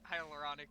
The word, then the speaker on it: hyaluronic: that was way too many syllables. Thank you, Neil. You're good. It's hyaluronic.